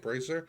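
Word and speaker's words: Brasier: Brazier?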